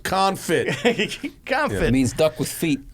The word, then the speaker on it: confit: the the Instagram page and I'm like Duck conit yeah holy hell pronounced confit confit means duck with feet duck thank you